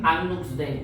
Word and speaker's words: Agnus Dei: Voy a darle chance a Mauricio porque quiero ver también la parte de Agnus Dei, y es que se pronuncia, Agnus Dei, pero quiero saber bastante, Mauricio, usted que dirige